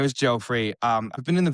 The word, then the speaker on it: Geoffrey: It's always like a debate on how to pronounce my name cuz it's spelled Jeffrey, but because I was born and raised in Holland, long story short, it's pronounced Joffrey.